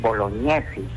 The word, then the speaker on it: Bolognesi: Francisco en el apellido la fonética es bolognesi pero escribe jn porque ese es italiano es ito ex es